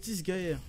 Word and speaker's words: Disgaea: prononce Disgaea.